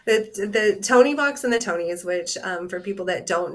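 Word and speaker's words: Tonie: is the Tony box. Oh. And the Is that Tony how you box pronounce isn't, it? I thought it was Toonies for the longest time.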